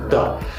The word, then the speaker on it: the: वाली ये है कि अगर द के बाद, THE के बाद अगर एक वॉवेल लेटर है, लाइक AEIOU, तो इस THE को we pronunciate दी, like दी Apple, दी orange. और अगर इस THE के बाद कोई कॉन्सोनेंट लेटर से स्टार्ट होने वाला वर्ड है तो हम इसे प्रोनाउंसिएट करते हैं द, like द बॉय, द गावा, द गर्ल।